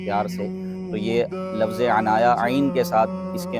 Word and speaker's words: عنایا: بھی بڑا وائرل ہے۔ عنایا کے بھی دو تلفظ ہیں، عین کے ساتھ اور الف کے ساتھ۔ الف کے ساتھ عنایا اس کا لغت میں